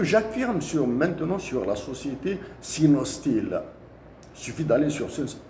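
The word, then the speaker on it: Sinosteel: Pour Gara Djebilet, c'est la société Sinostil pour la prononciation, SIONOSTEEL, qui a pris le projet.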